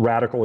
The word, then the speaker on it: RDCL: So radical is spelled RDCL.